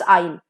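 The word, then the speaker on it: aisle: correct है ठीक है and this is obviously pronounced as आइल okay S का प्रोनंसिएशन नहीं होता है आइल एस E silent year now the first L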